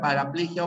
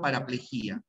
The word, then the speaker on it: paraplejia: tiene esas dos posibilidades puedes ir a hemiplejia o hemiplejía paraplejia o paraplejía las dos formas son correctas y a salvo la